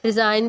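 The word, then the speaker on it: resign: जी silent है, रेन रिजाइन भी यानी रेन है, ठीक है, इसमें हमारा जी साइलेंट चला गया, एंड लैम्प लैम्प, ठीक है, इसमें हमारा बी साइलेंट चला गया।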